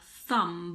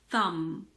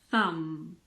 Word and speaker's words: thumb: the sound M so this is not a thumb B it's a thumb thumb pretend that the B isn't there occasionally the B is